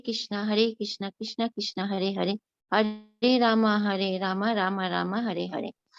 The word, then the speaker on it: Hare: Hare Krishna, Krishna Krishna, Hare Hare, Hare Rama, Rama Rama, Hare Hare. The word Hare pronounced as Hare, Krishna pronounced as Krishna, and Rama rhymes with Rama are Sanskrit words.